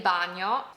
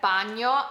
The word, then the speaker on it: bagno: Dov'è il bagno? Dov'è il bagno? You might notice that bagno has a G and O, and that sound is not very common in English. It's almost like no, but less sharp.